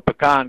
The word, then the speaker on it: pecan: it sounds like Freddy what is your preferred pronunciation PK the word you can't be Ken okay I'm a pecan guy okay all right well I think I